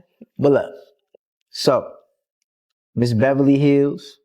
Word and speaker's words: Heals: But today we have Miss Beverly Hills. Beverly. H E A. Did I pronounce that right?